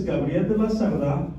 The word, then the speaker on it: Gabriel: got here huh so my name is gabriel you get bonus points you can say it like that let's try it once